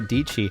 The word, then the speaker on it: Dietschy: way yeah that was my high school English teacher would call me DG rhymes with PG great random that works